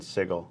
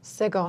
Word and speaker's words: Sigil: There's a general consensus on the internet that it's a hard G in Sigil. Sigil, huh?